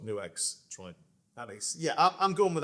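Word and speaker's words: NUX: First of all, New X is the pronunciation, right? Yeah, New X. Okay, there you go. So I've been saying it wrong for years. They won't care. There you go. Fair play. They're very lovely people. Yeah, so I gather, right? Actually, in Chinese, it's New X.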